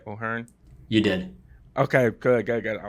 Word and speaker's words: O'Hearn: Did I pronounce that right? O'Hearn?